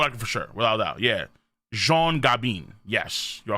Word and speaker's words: Jean Gabin: Oh, Jean Gabin. Oh, I said Gabon. Jesus Christ. It's Jean Gabin. It's pronounced Jean. Okay.